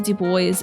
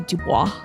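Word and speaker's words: Du Bois: Underground railroad having train tracks is like pronouncing uh W dub boys as W Dubois. Uh and also did I pron I you know what's funny? I thought it was pronounced Dubois the whole time.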